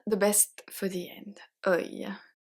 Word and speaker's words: œil: And I kept the best for the end, œil. Œil, œil, œil, œil can have 4 different spelling. I know. So here, to pronounce this one first, let's see the pronunciation.